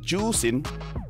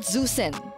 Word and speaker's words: Zusen: pronounce zusen no no it's pronounced as juin juin so it's not zusin I can speak mandrin